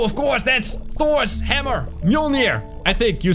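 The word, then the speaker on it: Mjölnir: Mjolnir, I think you say, right? Yeah, perfect. Spot on pronunciation.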